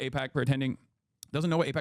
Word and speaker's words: AIPAC: To pretend that he doesn't know what AIPAC pretending it could be pronounced IPAC is just insulting anyone who follows this channel.